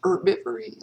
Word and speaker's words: herbivory: plants is called uh herbivory or if you don't pronounce the h herbivory like we intend to